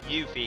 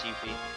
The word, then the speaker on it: Yuffie: Yuffie, yeah. That's how you pronounce it. It's a U and a F. That's how you pronounce Yuffie.